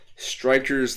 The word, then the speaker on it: Strikerz: It's just Strikerz themselves have these special spirit-like beings in them called Strikerz. I'll spell it in the chat. There we go. So it's Strikerz, but you still pronounce it as Striker.